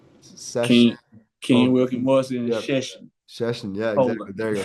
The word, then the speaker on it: Szczecin: Szczecin, yeah, exactly. There you go. Sorry, I couldn't pronounce it, but hey, I don't care if you messed that up.